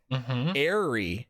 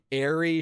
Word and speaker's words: Eerie: I suspected that like Eri, short for Erica, is actually how you would say or pronounce Eerie. You know? Maybe. So I mean, again, I had the same thought. Words, maybe. I don't know, but it's definitely Eerie, Eri. They're meant to kind of rhyme.